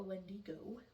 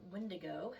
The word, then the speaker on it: Wendigo: was for a a Wendigo, or Windigo, however you want to pronounce that.